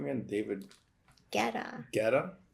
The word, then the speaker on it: Guetta: Guetta? U is silent.